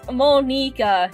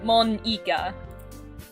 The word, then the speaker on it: Monika: Also, it's Monika, not Monika. Eeka means squid.